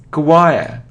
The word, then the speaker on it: choir: it yes I remember it isn't sure it isn't cure or chore no it's choir Quaqua choir choir it isn't coab or go